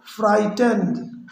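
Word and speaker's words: frightened: द बॉय गॉट फ्राइटेंड, फ्राइटेंड इसमें क्या है कि GH साइलेंट है, राइट।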